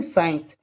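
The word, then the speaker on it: science: तो यहां पर देखें एस सी आई ई एन सी ई साइंस ठीक है तो यहां पर भी देखें एस के बाद में क्या है सी तो सी तो हो जाएगा साइलेंट ठीक है तो हम इसके लिए क्या पढ़ेंगे साइंस चलिए ये हमारा सी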